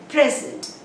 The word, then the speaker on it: present: So the stress is on the first syllable if it is a noun, on the second syllable if it is a verb.